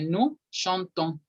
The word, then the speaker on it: nous chantons: Aquí sí hay una excepción. En la conjugación de nous, siempre con todos los verbos, la O se pronuncia. Así que nosotros cantamos, se dice nous chantons.